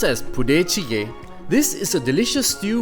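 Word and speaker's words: budae jjigae: out when you have the chance army stew pronounced as pudecige this is a delicious stew with a mix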